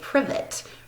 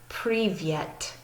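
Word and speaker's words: привет: can see it and if we pronounced it the way we pronounce our alphabet we would say privet probably or something like that but in their pronunciation you say privyet privyet so pretty yet to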